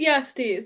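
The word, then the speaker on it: Jastes: Is it in Jonas, it is Yasties. That's how Michael Kramer pronounces it. It's the J is a Y. yeah, it's like Yasna. He's Oh, Oh, is okay. Yastis their friend? me Yastes.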